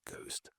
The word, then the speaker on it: ghost: And some older spellings like ghost, apparently this was due to some Dutch printing influence, although we never actually say the H in words like ghost.